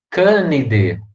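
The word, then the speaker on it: Canidae: a pronúncia aí então a gente sempre pronuncia candide falconidea tá depois eu vou explicar por que que elas são proparoxítonas mas fica canivete falconidea último aí é som de e a joia e essa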